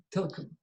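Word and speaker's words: TLKM: Telkom. Our language seldom uses vowels unless they are borrowed.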